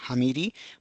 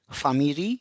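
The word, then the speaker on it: ファミリー: So we do not say it doruh or it is not hamiri but it is famiri and doruin.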